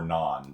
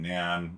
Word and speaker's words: NaN: something called Nam so Nan is or non depending on your pronunciation uh back in Nan or non-bred one or the other however you pronounce it it's all good um it means not